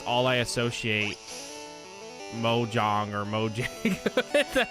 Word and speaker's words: Mojang: We should all play Mojang.